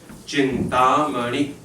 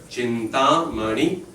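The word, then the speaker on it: चिन्तामणि: Chintamani, so you have two long and then two short. Chintamani, right? So actually two long, one short, and then one long.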